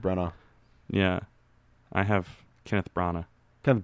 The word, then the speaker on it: Branagh: Yeah, I have Kenneth Branagh. Kenneth Branagh. Either way, Yeah. I've heard the G is silent.